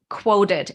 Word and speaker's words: Qwoted: And along the same lines, like we had both mentioned before, there is a platform called Quoted, and it's spelled QWOTED.